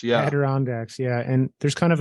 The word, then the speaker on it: Adirondacks: kind of really go into there I'm gonna mispronounce this but the Azure nod Dax I'm not really sure Adirondacks yeah Adirondacks yeah and there's kind of a permanent Frontier